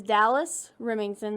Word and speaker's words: Dallas Remington: Yeah, so my name is Dallas Remington. That's Dallas like the city and Remington like the shotgun or the curling iron, whichever one you choose. They're spelled the same way with one M.